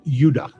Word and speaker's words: Judah: were called Benjamin and Judah more properly pronounced Yuda because we didn't get the harder sound to the J until about 200 years